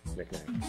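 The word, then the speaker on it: knickknack: You know, like Nick with a K in front of it. Well, I know. Silent K.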